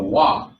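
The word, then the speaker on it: waw: today as Bob, but in the ancient Hebrew, that is the Paleo Hebrew, it was pronounced with a wah, with the wah sound.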